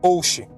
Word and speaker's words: Ouchi: Seu sobrenome realmente se pronuncia Oshi, mas a escrita correta seria Oishi.